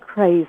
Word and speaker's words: Krais: a very good stab it's that craze as in crazy but not spelled like that okay Katie craze Katie